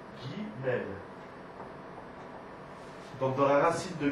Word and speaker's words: Guimel: m'excuse la lettre Guimel elle-même comment elle se prononce Guimel donc dans la racine de Guimel on a